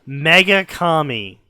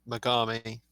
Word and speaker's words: Megami: to point out that the good God is called the mega commie it's Megami you're just mispronouncing it like an idiot you